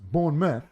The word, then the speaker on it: Bournemouth: it spills born mouth but they pronounce it Bournemouth that's what you're saying Midlands not Midlands when I first went there I was saying Midland that's what I'm saying but they're like born man it's pronounced born myth yeah but it spells born now once you